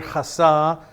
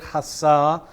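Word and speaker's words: חסה: a different word and this is the word hassa a c-h-a-s-a-h is how i would spell it hasah and it means to take refuge or to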